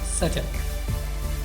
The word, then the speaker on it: subtle: बिल्कुल, अगर आप सब्टल पढ़ते हैं तो ये गलत प्रोनाउंसिएशन है, इसकी सही प्रोनाउंसिएशन है सटल. We have been covering a lot of word with silent letter in this article, but subtle really takes the cake, is exceptional for being an odd one. Silent B sounds in English are rare, but they pop up.